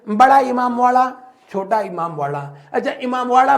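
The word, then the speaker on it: इमामबाड़ा: अच्छा, इमामवाड़ा बोलो तो इसका जो है प्रोनाउंसिएशन थोड़ी थोड़ी दहीबाड़ा जैसा लगता है, प्रोनाउंसिएशन में, उच्चारण में देखने में नहीं, दहीबाड़ा जैसा लगता है।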